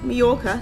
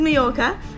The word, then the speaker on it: Mallorca: island this is MCA mayorca sorry Double L is pronounced with a Y this is mayorca um and we are